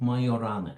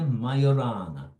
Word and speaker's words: Majorana: Now, how do you pronounce his name? The Italians will pronounce it Majorana, and I checked that they call his name Ettore Majorana. But the very first podcast, the American podcast, they call him Majorana, and I suspect everybody